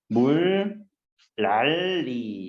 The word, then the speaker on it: 물난리: 물난리를 발음대로 써보면 되게 이상하다. 느낌이. 물, 랄리 이렇게 돼요.